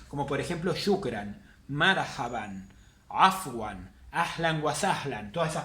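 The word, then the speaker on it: عفوا: Lo mismo pasa con de nada, afwan. af, wan. Af, wan. Este alif no se pronuncia y esto se leía an.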